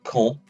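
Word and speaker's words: quand: longer sentences with con the word call notice i'm not pronouncing that d call um means when so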